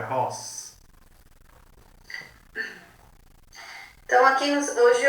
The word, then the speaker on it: RoHS: Eles não falam, pronunciam ROS como eu, é ROS.